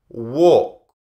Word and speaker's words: walk: So, work, walk, work, walk, walk. We don't say the L, we don't say walk, we just say walk.